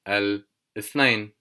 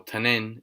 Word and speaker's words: الاثنين: يوم الأحد, يوم الأحد, which means Sunday, or يوم الاثنين, يوم الاثنين, or تنين, either doesn't really matter, it's just a different pronunciation.